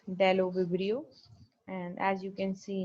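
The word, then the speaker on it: Bdellovibrio: of the member is the deloverio b is silent here right so it's dello vibrio and as you can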